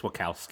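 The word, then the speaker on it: Wachowski: Uh, according to Latino Review, the Wacowski Wowski siblings, is that how you say it? Wow. I think it's Wakowski.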